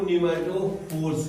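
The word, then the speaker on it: pneumatophore: उसी को निमेटोफोर्स कहते हैं। क्या कहते हैं? निमेटोफोर, पी साइलेंट है, निमेटोफोर कहते हैं, ठीक है।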